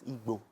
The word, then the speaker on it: Igbo: Say it again. Igbo. It's Igbo. Yes, that's the right way to say it.